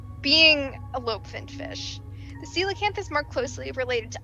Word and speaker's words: coelacanth: Why don't we tell the audience about the coelacanth? Perfect pronunciation.